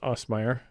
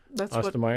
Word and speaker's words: Ostermeyer: We had Travis Osmeyer. Is that how you pronounce it? Ostermeyer.